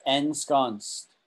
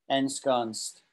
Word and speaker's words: ensconced: problem so that's ensconced it's not an easy word to say even for us um natives right ends end scones it's important to see that end there ensconced ensconced right um i'll do one